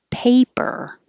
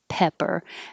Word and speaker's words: paper: the stressed syllable decaf paper pay your tongue has to rise if it doesn't rise it really could sound like pepper because pe pe are very close together so the difference is